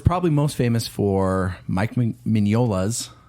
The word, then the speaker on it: Mignola: most famous for Mike mignola's his name is hard to pronounce sometimes Mike mignola filet mignon yes uh his book comic